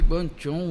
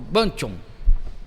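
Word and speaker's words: Guangzhou: Eu falei: "É lá na cidade de Guanchon, né?" Ele falou: "Ganchon, porque ele falou já pronunciando e na palavrado dele lá de chinês."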